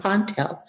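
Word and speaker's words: P'ntl: our planet is called and he spelled it p apostrophe n t l and he said the apostrophe was what they considered a lip flap i said what's a lip flap he said that's a lip flap it's a ponte i said ponte he said we are the ponte i said you're the ponte from pontel and he indicated that that was correct that began otterized journey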